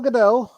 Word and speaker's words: Gadot: So we have Gal Gadot, or Gal Gadot. How do you pronounce her name? Once again, I'm horrible with names. Mrs. Fry. Go. Very French. Gardot. What is it? Gardot.